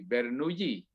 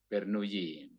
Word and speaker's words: Bernoulli: Ini orang Prancis, ya, jadi membacanya ya ala orang Prancis, ya. Bernoulli. Nah, OU itu dibaca U biasa. Nah, LLI itu dibaca Y, jadi Bernoulli. Bernoulli.